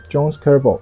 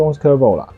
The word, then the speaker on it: Jose Cuervo: jalapeno pepper Chipotle Mexico Cross-border manhunt Some action movies And that one (please imagine) This must be silenced Jose Cuervo should be Jose Cuervo (please correct the mispronunciation) Oh, there’s something to talk about here It means it uses blue agave.